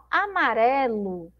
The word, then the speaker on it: amarelo: Então, o amarelo, a sílaba mais forte é esse ré aqui no meio, ó.